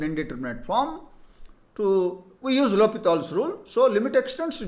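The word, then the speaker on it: L'Hôpital: rule the so-called L hospitals rule repeatedly the L hospitals rule Please spell it as l'hopital's rule now limit X tends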